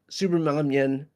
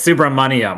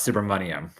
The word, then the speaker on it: Subrahmanyam: It's Subrahmanyam, like money. Suhas Subrahmanyam.